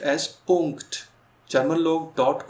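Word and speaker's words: Punkt: तो नीचे वही चीज़ है कि फुल स्टॉप्स या डॉट इज प्रोनाउंस्ड एज पुंक्ट।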